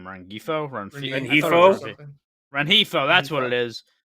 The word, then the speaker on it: Rengifo: Rengifo.